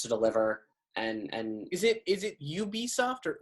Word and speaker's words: Ubisoft: We, like Indiana Jones, we have no fucking idea when this is coming out, but I trust Ubisoft.